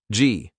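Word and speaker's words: gee: G, pronounced with a soft G as in genie, to go right, and haw, to go left.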